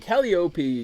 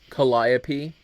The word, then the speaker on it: Calliope: called Mory copi um calop can be pronounced a couple different ways copi Kopi and calop I say uh calop or kop I kind of interchange the two because one is faster to say and one is more elegant to say but it's also kind